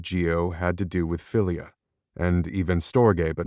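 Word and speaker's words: philia: Also considered Christian love, pronounced filia, but spelled with a ph.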